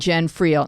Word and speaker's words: Jen Friel: If you say it too fast, it sounds like a disease.